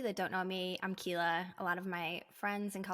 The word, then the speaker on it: Quila: So it's Quila if you like a challenge, if you want to get up close and personal with me.